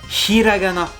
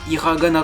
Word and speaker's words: hiragana: s'écrit comme ça alors ça se prononce bien hiragana et non pas ira le ghana comme j'entendais fois la première syllabe est expiré j'en parle plus tard